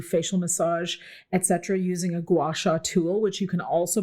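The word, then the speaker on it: gua sha: So I love a good gouacha massage. If you guys have not experienced this or heard of it, you can go on Instagram or Tik Tok and just put in the words gouasha and you spell that gu a ha.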